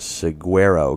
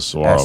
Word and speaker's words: saguaro: Well, it says you can even go to prison for a year if you're caught cutting down the endangered saguaro cactus. Yeah, that's a saguaro cactus, spelled really weird.